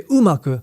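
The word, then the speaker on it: 馬: Now this is the character for horse, and it's pronounced uma.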